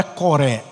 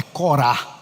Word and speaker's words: Corá: preencher aquele lugar era não é coré é Corá o nome se pronuncia Corá e um outro e